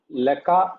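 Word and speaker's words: לְךָ: Li, leka, lak, lo, la, lanu, lakem, laken, lahem, lahem.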